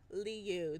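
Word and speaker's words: 鲤: Karp is pronounced as Leu, the same as Leu's name.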